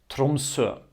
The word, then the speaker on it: Tromsø: The O with the line through it is a sound that you might also know from German or French. In German it's called O umlaut, Ö. In French you have the same, like in the letter EU.